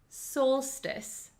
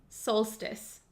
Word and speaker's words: solstice: how do you pronounce it this word is pronounced Solstice soltice Solstice so what does solstice mean if it's the